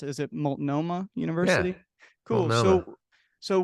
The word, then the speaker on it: Multnomah: So you went to, I think, how do I pronounce it? Is it Multnomah University?